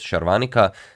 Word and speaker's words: Sharvanika: chess base India and he calls her uh sharvanika but then he asks her uh what's it actually pronounced and she says sharvanika and then he just continues calling her charvanika so I don't really